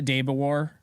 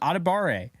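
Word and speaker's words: Adebawore: Oh no, I'm saying it wrong. Adebare.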